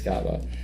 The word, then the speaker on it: Kaaba: Sure. Kaaba. It's Kaaba.